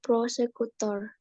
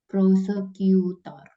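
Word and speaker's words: prosecutor: apa ya Miss kayak prosekutor proseutor jadi u itu dibacanya sama kan Kayak misalnya komputer bahasa Inggrisnya apa bukan komputer tapi komputer komputer I kan prosekutor dan komputer jadiya itu dibaca ya proseekutor ya boleh dijawab ni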